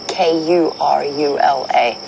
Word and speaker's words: Karula: And according to the phonetics of the way that you would spell that in that language, it would be Kurula.